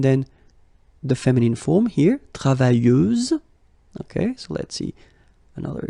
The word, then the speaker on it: travailleuse: Feminine form, travailleuse, same rule and same phonetical thing. You don't pronounce the final S, so you get travailleuse.